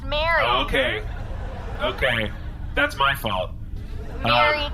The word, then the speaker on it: Marie: It's actually spelled Marie, pronounced Mary.